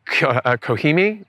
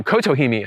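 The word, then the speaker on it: Kotohime: uh Acer palmatum goshiki kohimi or oh kotohimi I should say lost a civil syllable there this one I didn't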